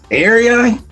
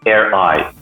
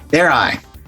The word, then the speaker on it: AirEye: And today's, we have a guest from, is it Area? Is that what the pronunciation of the company you got there? Their name is AirEye. AirEye. And your name, sir, is...